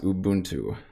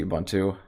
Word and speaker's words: Ubuntu: like purposely pronounce it wrong it's it's actually pronounced ubuntu that's what it's pronounced but i didn't know